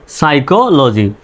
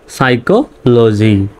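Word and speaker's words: psychology: যেহেতু ব্যতিক্রম নিয়ম এল ল জি ওয়াই জি লজি সাইকোলজি পি এস ওয়াই সাই অর্থাৎ পির উচ্চারণ বাদ এস ওয় সাই সি এইচও ক এল জি ওয়াইজি সাইকোলজি এই সাবজেক্টটা আমি ইন্টারমিডিয়েটেও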